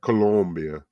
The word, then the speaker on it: Colombia: You got to say it right. Colombia. He's from Colombia.